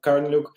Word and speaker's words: Karneliuk: My name is Karneliuk. It's how it's pronounced in the English, obviously.